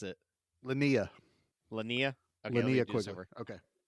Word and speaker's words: Linnea: Yeah, how do you pronounce it? Linnea.